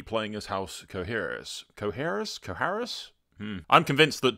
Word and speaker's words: Qoherys: But Qoherys, like that, yeah.